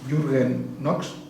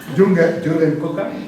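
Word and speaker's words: Jürgen Kocka: Y el alemán Jürgen Knox, Coca. ya decía yo, digo, estoy pronunciando muchos nombres alemanes y seguro que no hago ni uno bueno. Jürgen Coca.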